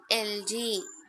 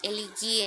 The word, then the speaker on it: elegy: So we have to pronounce it as LG. Okay, LG. You cannot say it as elegy and all.